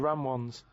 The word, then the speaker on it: Ramones: The ram ones, right? If you write that down, No, What's he's not that? even write it down. It's a... that's It's a... Ramones.